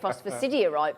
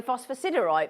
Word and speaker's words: phosphosiderite: phosphosiderite isn't it phosphosite there's me telling you how to say it and I I always say it phosphorite but it's apparently phosphosiderite but what you know